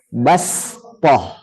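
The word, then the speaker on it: بسطة: Baik, berikutnya adalah peletakan huruf sin kecil di atas huruf shad menunjukkan bahwa huruf shad dibaca sin. Huruf shadnya dibaca sin. Fil khalqi basṭah. Nah, enggak boleh dibaca shad.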